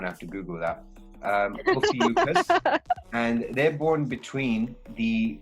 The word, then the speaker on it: Ophiuchus: And the 13th one is actually known as, it's pronounced Ophiuchus. Those who are born between... I'm sure you're saying that wrong. Okay, I'm going to have to Google that. Ophiuchus.